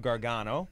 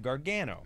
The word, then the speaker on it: Gargano: always like there okay there's two pronunciations there's the Italian version of Gargano Okay and like and then there's the the Americanized version which I say of Gargano but there's the right way and the wrong way there is of